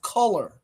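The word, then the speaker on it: Tuller: Class of 2030, remember the name Justice Color. That's how you pronounce it.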